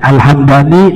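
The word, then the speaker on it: Al-Hamdani: Ya, kalau nama kota mimnya dibaca fathah alhamadani. Kalau mimnya disungkun dibacanya alhamdan alhamdani nama suku di Yaman.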